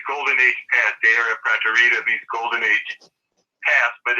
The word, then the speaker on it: Praeterita: from the Dei Aurea Praeterita. How do you say that exactly? Praeterita. Praeteria. Yeah, try to use the first word is based on Praetorian.